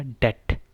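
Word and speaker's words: debt: अब ये बी जो है ये नहीं बोलना हमने, तो ये क्या हो जाएगा, डेट।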